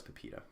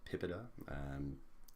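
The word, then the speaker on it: PIPEDA: 2015 as well as Pepita mr. Curren came out in the early 2000s some call it PIPA de either pronunciation is fine so the OPC score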